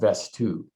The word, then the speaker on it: Vesttoo: And that company is called Vestoo. It's spelled VESTTOO.